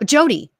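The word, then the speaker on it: Jodeanne: yeah and then can you help me with pronouncing this is it jode Ann lamb I think so uh Jody okay j-o-d-e-a-n-n-e okay okay yes Jody Jody lamb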